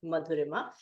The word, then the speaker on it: Madura: hello everyone I am Madura my name goes like a wave so it's very easy to pronounce if you imagine it going M ma Madura I am a global